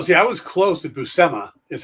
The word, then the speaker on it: Buscema: people going around going oh i love the bus commas oh see i was close to buscema is how i pronounced it yeah so that's yeah um but